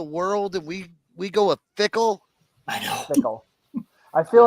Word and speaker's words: Fickell: Luke Fickell.